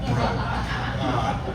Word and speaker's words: Breaux: Jacob Breaux, I was told by Bert on the way down here, that it's pronounced Bro, not Broad. I'm from Shreveport, but Breaux.